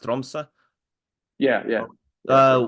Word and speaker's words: Tromsø: And if when you first moved abroad, you've played for it's pronounced Tromsø.